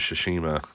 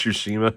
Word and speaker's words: Tsushima: Last of Us is a 2-pack, and Ghost of Tsushima. And if I'm saying it wrong, just deal with it. It's Tsushima, I think.